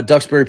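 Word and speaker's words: Duxbury: Uh, am I pronouncing Dubberry right? Is that right? Said ducks. Okay, good. Okay, so uh Ducksberry Police Dispatch radioed something about the home's basement before he heard the extremely loud screaming.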